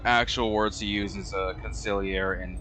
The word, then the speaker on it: consigliere: I genuinely do think the G for conciliare is just there to spell it right. Like, oh, how do you spell conciliare? Consigliere.